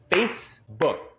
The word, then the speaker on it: Facebook: de Facebook em inglês essa palavra só tem duas sílabas Facebook nada de book assim o nome do